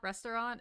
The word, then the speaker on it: restaurant: we go like restaurant restaurant is the way you pronounce it i don't give a it's three syllables first time chat from